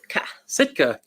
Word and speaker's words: Sitka: Sitka.